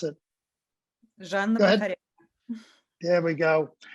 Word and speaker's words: Zhanna: She's the granddaughter of the actress Zhana Poroshenko, and the daughter, pardon me, you pronounce it. Zhanna Go ahead.